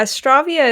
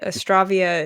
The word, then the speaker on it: Astravia: a lot um but astravia is is kind of um I'd say the the canonical way to pronounce it because it kind of comes from Astra like astral like stars you know I like